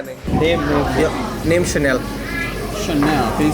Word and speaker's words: Shanell: It was like, just what do I do to be mean to Chanel?